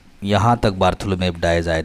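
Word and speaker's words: Bartholomew Dias: The king of Portugal Saint बार्थोलोमेव dyes, ऐसे ही पढ़ना है इसका नाम, बार्थोलोमेव डायज, बहुत इंपॉर्टेंट नाम है, याद रखिएगा इसके स्पेलिंग भी।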